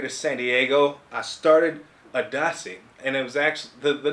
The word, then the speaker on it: ADACI: So that's what ADACI is, but it's pronounced ADACI.